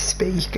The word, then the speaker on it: Speke: and my surname is speak and as you see from the toriel it's spelled differently spe ke and you know but it is pronounced the same way it's just like a homophone and i was thought